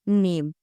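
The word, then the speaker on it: gnome: इसका रूल यह है कि एन और एच से पहले एच से पहले हम जी को साइलेंट रखते हैं। जैसे यहां जी एन ओ एम ई लिखा है। इसे हम पढ़ेंगे नॉम आगे फॉरेन लाइक।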